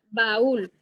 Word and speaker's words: baúl: Para marcar que no se va a pronunciar como diptongo, sino que se van a dividir en dos sílabas. Entonces sería baúl.